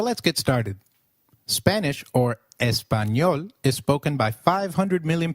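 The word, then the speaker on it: español: how to pronounce it the letter A is pronounced as ah as in father did you notice the letter enya in espanol this letter is peculiar in Spanish it is pronounced as me like in Canyon so can you try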